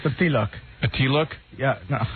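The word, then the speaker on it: tilak: how you say it it's the t-look a tea look yeah no not a t-list But That's all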